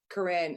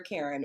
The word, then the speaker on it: Caryn: have a wide so it was supposed to be like Corinne it's how it's spelled but yeah isn't that funny I was like screw it my name is no longer Karen when I order something